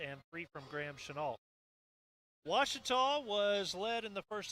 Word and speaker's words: Ouachita: ouachita sports digital network i've heard people say oh a cheetah back in texas everybody pronounces it wichita but really it's washita washertop how would you pronounce it get it